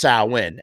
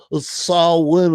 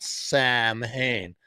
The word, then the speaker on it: Samhain: birthed a festival known as samhain but it's pronounced sauwin and of course if you're a fan of the band samhain uh you'll have nerds coming up to you all day going actually it's pronounced saul when is how you pronounce that for those of